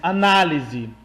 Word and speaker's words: análise: Vinícius, mas os dois só se diferem pela presença do acento agudo na sílaba A. Melhor dizendo. Olha, na primeira frase nós temos análise. Análise é um substantivo e analise é um verbo.